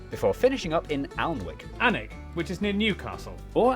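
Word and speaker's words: Alnwick: in quernmore quma before finishing up in alwick anik which is near Newcastle or as the people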